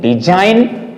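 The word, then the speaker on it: design: ठीक है, डिजाइन और कॉन्साइनमेंट, ये बिल्कुल दिमाग पर रख लेंगे। I mean, इनको जब भी हम प्रोनाउंसिएट करेंगे तो जी को हम यूज नहीं करेंगे, ये बिल्कुल दिमाग में रख लेंगे।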